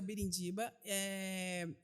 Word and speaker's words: Birindiba: é o fernanda_birindiba gente meu sobrenome não é tão difícil assim pirindiba é como se fala mesmo normal você é mais uma no meio da multidão que acha isso é uma turma mas é mais simples é o birindiba eu atendo na clínica